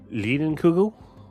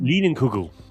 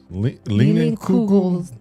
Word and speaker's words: Leinenkugel: Yeah, but who's But the name of it, I don't know how to pronounce that name. Lienenkugel? It's LEINENLIUGELS. Why would you even try? Oh no, that's K. KU. Leinenkugel. Leinenkugel.